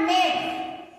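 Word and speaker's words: make: जैसे यहाँ लिखा हुआ है मेक, लास्ट पे ई रहेगा तो ई क्या रहेगा, साइलेंट रहेगा।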